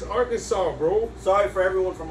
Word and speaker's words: Arkansas: arkansas baby arkansas yeah it's not our kansas it's not kind of it's arkansas bro sorry for everyone